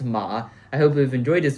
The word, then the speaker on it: 馬: So guys, this is 3 ways to write horse in Chinese, pronounced ma.